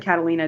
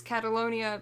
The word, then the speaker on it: Catalonia: And oh gosh, I said Catalina, didn't I? Oh god. It's okay. A lot of people, I've been seeing it online, spelling it wrong, saying it wrong. I only know it's Catalonia because I went on